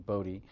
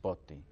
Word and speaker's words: Botti: we pronounce it or my family decided to pronounce it a more american pronunciation bodhi but in in in italy it's pronounced botti right yes right and